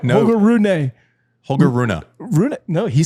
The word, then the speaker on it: Rune: Holger Rune.